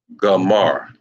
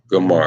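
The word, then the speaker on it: Gomer: you pronounce their name and that is pronounced gamar that is pronounced gamar as soon as I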